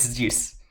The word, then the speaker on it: Zeus: Is that how you say it? It's Zeus. Zeus.